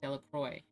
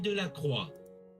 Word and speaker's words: Delacroix: No other painter of the time explored the domain of romantic subjects and mood as thoroughly and definitively as Delacroix.